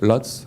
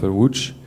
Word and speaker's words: Łódź: You can read Lodz, but pronounced Łódź in Polish.